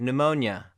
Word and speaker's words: pneumonia: also probably from Greek like pneumonia and pneumonia the P doesn't have any sound and then this word